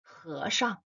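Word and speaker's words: 和尚: The pronunciation of He Shang, He Shang, monk. First character with the second tone, He, He. The second character with the neutral tone, tone 5, Shang, Shang.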